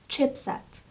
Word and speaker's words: chipset: The next word is chipset. Again, it's in plural form, but singular form would be chipset. Chipset. Chipset, as you can see, the stress is on the first syllable, and it's micro and it's microchip sets.